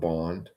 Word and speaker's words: bond: It's spelled bond. It's supposed to rhyme with lawn.